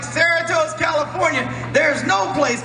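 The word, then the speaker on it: Cerritos: know you're lying he goes no I'm in Saros California man I'm like Sarat California I go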